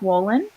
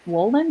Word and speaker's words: Wolynn: It didn't start with you, and that is by Mark Wolin.